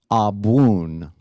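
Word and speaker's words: Abwoon: it back to me a boon excellent now the BW sound doesn't really occur in the English language so that's going to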